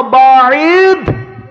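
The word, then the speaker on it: بَاعِدْ: দোয়াটা আছে আল্লাহুম্মা বাদ আল্লাহুম্মা বাইদ এর উচ্চারণ করতে দ এর উচ্চারণ করতে হবে। ত এর উচ্চারণ করলে ভুল হয়ে যাবে।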